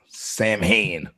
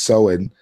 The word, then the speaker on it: Samhain: Freaking ancient Celtic festival of Samhain, but we say it Samhain, right? That's how we Americans would pronounce it nowadays, but it's Samhain.